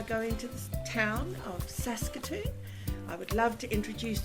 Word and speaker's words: Saskatoon: from did I say you did yep sason Saskatoon did I say it correctly yes you did